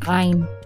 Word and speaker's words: ayin: So the word for the name of the letter is more like ayin.